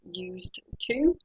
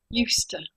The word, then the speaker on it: used to: For example, we write used to, but we say, you're now experts, I'm sure, used to, used to.